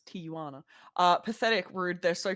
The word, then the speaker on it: Tijuana: Moana Tijuana okay so Jays are not pronounced like J's no they're like yeah yeah okay so it's Tijuana uh pathetic rude they're